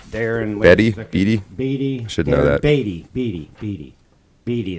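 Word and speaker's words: Beattie: Beatty is how they pronounce it.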